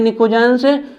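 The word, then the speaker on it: pnictogens: तो ध्यान रखोगे किसका नाम है, निकोजेंस, ग्रुप 15 का निकोजेंस। पी साइलेंट होता है, निकोजेंस, निकोजेंस, निकोजेंस, निकोजेंस।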